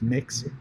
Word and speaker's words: Mx: feel free to use MX, or which is pronounced Mix, or Mr.